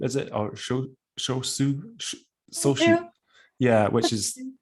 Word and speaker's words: Shochu: Of course, you have, excuse my pronunciation, soshu, is it? Or shosu? Soshu. Yeah, which is like a distilled sake. Is that correct? Shochu is spirits.